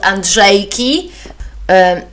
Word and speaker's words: Andrzejki: And if you're interested in it, just Google something that is called Andrzejki, which is spelled ANDRZEJKI.